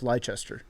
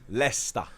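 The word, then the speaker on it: Leicester: were a big deal we know how to pronounce lychester lesta so all right so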